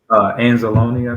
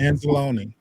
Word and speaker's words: Anzalone: Is that how you pronounce it? Anzalone, I think. Anzalone.